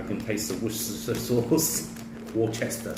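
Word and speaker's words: Worcestershire: Warchester sauce. American people can't say that. Huh? Americans say funny, but it's Warchester. Warchester sauce. Worchester sauce, depending.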